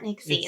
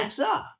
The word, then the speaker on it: Nixa: Because it's not Nixie. It's Nixa. Nixa.